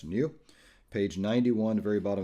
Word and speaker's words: GNU: new parameters that is GNU again pronounced a new page 91 the very